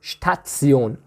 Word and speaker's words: Station: s this one in in english we say station shen but in german we have statsion so we pronounce it and when a word